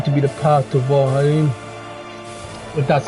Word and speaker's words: Vholran: pretty much going to be the path to vol but that's how you pronounce his name and um we are going